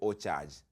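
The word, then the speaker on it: OCharge: Store and look for o charge oar is spelled OC c h a r g e like in O and then charge get it download that app then let's meet at 10 p.m.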